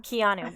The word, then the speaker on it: Keanu: this one's about Cohn how you say it Keanu Keanu it's like Keanu Reeves come on Santa Keanu